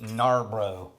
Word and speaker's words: Narbrough: from magnificent bastard narabra bastard although I think you should correctly pronounce it narbro okay Nar bro this